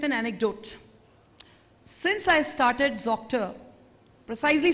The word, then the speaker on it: Zoctor: Well, when we gave the name Zoctor, I thought it was fairly intuitive. Zoctor rhymes with doctor. So Zoctor, Zoctor, doctor, doctor. But somewhere this has not